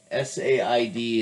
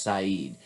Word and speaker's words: Said: necessary but edward syed s-a-i-d it's not pronounced said it's pronounced saeed he was palestinian i